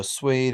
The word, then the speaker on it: suede: So in a couple words, you even pronounce a U as a W. So suede and suave, and then lots of them with G, like penguin, distinguish, and linguist.